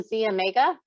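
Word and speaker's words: Xomega: second one is the Z Omega I know it has an X but we pronounce it Z Omega and let's talk a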